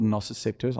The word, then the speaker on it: nociceptors: Nociceptors is the correct pronunciation if you're from the UK. Otherwise, it's nociceptors if you want to do American English, which is not a real language.